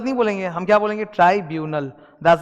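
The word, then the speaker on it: tribunal: ट्राइब्यूनल, that's the pronunciation.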